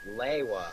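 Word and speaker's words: Lewa: probably learned here I personally always pronounced it Li ha we are very like-minded You and I by the way according to ps01 it's supposed to be pronounced leiwa like propolina I see assistant that's the only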